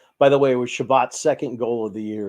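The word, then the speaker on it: Chabot: enjoyed that one huh so they do pronounce it shabbat how about that yeah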